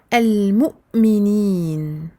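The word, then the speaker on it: المؤمنين: On ne dit pas al-mu'minin et on ne dit pas al-mu'minin. Ici, al-mu'minin.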